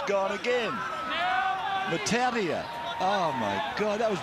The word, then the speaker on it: Matautia: And we found another pronunciation for the Matautia brothers as well. Matthew Utah's gone again. Matautia.